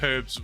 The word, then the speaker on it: herbs: Top 10 worst things about moving to America definitely includes pasta noodles and pronouncing herbs without an H.